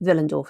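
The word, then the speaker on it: Willendorf: picture in their minds as the Venus of vill andorf is that how you say it yes what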